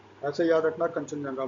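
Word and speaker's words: Kangchenjunga: ठीक है, फिर कंचनजंगा, लिखते हैं इंग्लिश में ऐसे, हिंदी में हम लोग प्रोनाउंस करते हैं कंचनजंगा।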